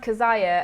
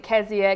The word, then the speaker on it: Keziah: It's pronounced Keziah as far as I know. Most people, normally people will pronounce it Keziah, Keziah, and I'm wondering if I've got the pronunciation wrong, I'm not sure.